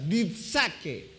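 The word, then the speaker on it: διαθήκη: La palabra es diasatke, más o menos así. Es como una pronunciación como si fuera una avispa. Ditsake, ¿sale?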